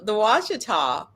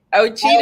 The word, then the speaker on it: Ouachita: pronounce this one? It's ALEX. That's like a where is it? L-E-A-X. ALEX. The Ouachita Supposed to be Alex. but Mountains. doubt I it is. always say Elise. Ochita Alex.